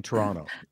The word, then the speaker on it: Toronto: pronouncing it correctly so you don't say the other T you just go Toronto no T that's how you know